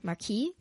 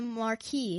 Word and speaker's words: Marquis: So long ago, a poor beggar comes to a little Spanish town where the evil Marquis, Yeah, don't pronounce the S.